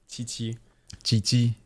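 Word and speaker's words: Qiqi: twice yep chii chii but it's like the with like a t m not like a t like a very thin CH that said instead of through the like the back of the mouth it's said through the front of the mouth ch ch ch Chi mhm tough but okay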